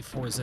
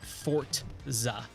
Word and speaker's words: Forza: I never like the forza series and it's Forza not fortza like how a lot of people pronounce it yes Rally Sport Challenge